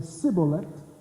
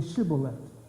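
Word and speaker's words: shibboleth: So that the southern tribes were saying Sibolet, and the northern tribes were saying Shibolet, but they are the same people.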